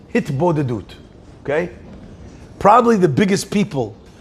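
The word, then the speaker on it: התבודדות: In Chassidut, there's a topic called hitbodedut. Okay? Probably the biggest people on the hitbodedut train is Breslov. Very big into hisboidedus. That's what they say. That's how they say it.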